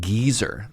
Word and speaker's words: geyser: In the UK, the pronunciation is indeed geyser according to Wikipedia.